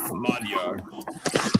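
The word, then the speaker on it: Magyar: Hungarian the language itself, Madar, that's how they say it in Hungary.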